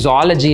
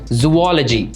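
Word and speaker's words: zoology: ஜுவாலஜி அப்படிங்கிற வேர்டே வந்து நிறைய பேர் ஜாலஜி அப்படிம்பாங்க. பாட்னி ஜாலஜி அப்படிம்பாங்க. அது ஜாலஜி கிடையாது, இட் இஸ் ஜுவாலஜி. ZOO ரெண்டு ஓ இருக்கு, அதனால ஜுவாலஜி அப்படின்னு தான் கரெக்டாக யூஸ் பண்ணணும்.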